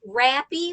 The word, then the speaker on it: Rappe: my name is rappy and a lot of people uh can't remember how to pronounce it so here's the key it's rappy which rhymes with happy or crappy just depends on the